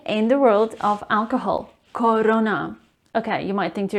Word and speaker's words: Corona: o as o corona it's not corona it is corona remember it is a wide o sound corona corona corona or